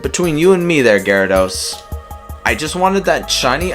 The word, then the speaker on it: Gyarados: it's about gallardos but you know it is pronounced Gyarados so yay urza I thought that was Ezra